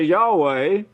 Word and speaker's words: Yahweh: You could go to a Hebrew and speak Hebrew and say Yahweh. That's the way you pronounce it.